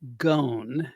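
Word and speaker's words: Ghosn: name that crazy guy carlos gone gone which is what you had corrected me because i would always say gosh gone but uh now it seems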